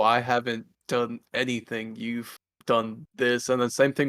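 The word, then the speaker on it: Deaux: his name just because it's d-e-a-u-x but he goes by do so i always have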